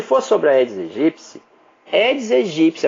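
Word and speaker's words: Aedes aegypti: edes egípcio edes egípcio a pronúncia Correta que eu ensinei para vocês edes egípcio tem um podcast falando como se pronuncia corretamente e eu explico o por que a pronúncia eds egípcia não é a eds egipte também tem material só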